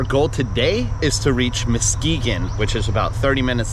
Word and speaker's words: Muskegon: Our goal today is to reach Muskegon, which is about 30 minutes down the road from where Electric Forest is. That's how you pronounce it? Yes. I've been pronouncing it Muskegon in my head.